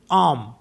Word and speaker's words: homme: For example जैसे HOMME है ना, तो इसको हम पढ़ते हैं यहाँ पे क्योंकि एच साइलेंट है तो एच को नहीं पढ़ेंगे, ओ से स्टार्ट करेंगे।